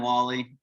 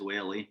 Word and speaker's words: Whalley: today and then sure um so i'm wally um most people mispronounce it as whaley but it is what it is um so